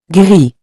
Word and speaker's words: gris: The next color is gris, which means gray. Remember that we don't pronounce the final S. For example, un pull gris means a gray sweater.